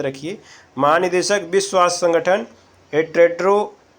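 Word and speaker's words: Tedros: महानिदेशक विश्व स्वास्थ्य संगठन टेड्रो अधानोम भी पढ़ा जाता है। टेड्रोस, थोड़ा इनका उच्चारण सही नहीं है, आप टेड्रोस के नाम से जान जाइए इनको।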